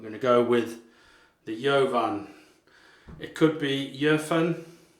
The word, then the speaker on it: Jovan: And with the line across the top, it's like a German umlaut, so it could be Jöfen. So don't know, but Jovan is how you say it in the UK.